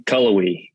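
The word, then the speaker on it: Cullowhee: loved it all right so how do you pronounce the name of the town in Western Carolina is it cool we Chloe colorway colorway yeah what what do people do for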